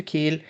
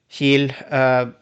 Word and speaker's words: Kiel: I have been on a trip to Kiel with Colorline Magic this time because I went on the big yearly meeting for an organization I'm in the board of.